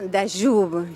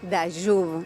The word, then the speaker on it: Dayub: Mauricio Dayub. Yo pregunté cómo se pronunciaba y me dijeron es Dayub, no Dayub.